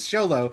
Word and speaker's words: Xolo: Cobra Kai panels so I knew it was Xolo.